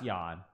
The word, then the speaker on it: Jan: the man yeah yeah it's pronounced yawn yeah in Russian in Russian it's written Jane okay yeah I mean